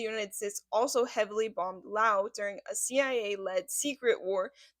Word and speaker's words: Laos: Yes, it is pronounced Lao, as French colonial influence added the silent S in pluralization, which Americans applied their pronunciation rules to, making it no longer silent.